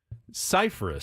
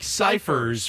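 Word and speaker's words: Scifres: beginning um like remember the old punter for the San Diego Chargers Mike cyphus cyh who was known as Mike ciphers for the first oh nine years of his career until he finally said hey guys you know I'm not Mike ciphers I'm Mike cyphus Cyprus and so you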